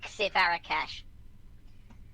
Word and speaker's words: Xivarakash: Xivarakash, so it's XHI, but the X is pronounced like the X in box. Right. So Xivarakash.